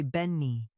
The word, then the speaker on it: Benny: In French, it's still spelled the same. You just read it differently. You say Beni.